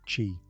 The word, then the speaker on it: qi: of harmony, the flow of energy, or qi, pronounced qi.